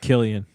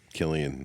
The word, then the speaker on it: Cillian: Is that how you say his name? Oh, Killian. Killian.